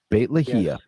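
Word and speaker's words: Beit Lahia: if I'm close it's Bei T is that bit lahia bate yes bit Leia they've said that in the Gaza Strip that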